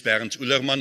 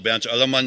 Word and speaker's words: Bernd Ullermann: My name is Bernd Ullermann, or Bernd Ullermann, if you want to pronounce it in German.